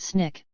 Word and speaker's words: SNCC: Student Nonviolent Coordinating Committee SNCC pronounced Snick founded in 1960 after